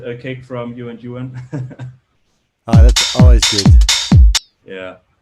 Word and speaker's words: Ewan: I was always calling him You and Ewan, yeah. But it's pronounced You and Ewan since his name is Ewan.